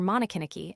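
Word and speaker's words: Monikiniki: that of Nikkaniki or Monokiniki as it is usually pronounced with the prefix of masculinity mo.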